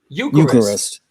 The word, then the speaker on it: Eucharist: Josh, and it's Eucharist. Oh, should I do it again? Concrete Ties, Incendiary Device, Glorious Wounds, Cooked Alive, and Eucharist. Oh, you almost had it. Eucharist.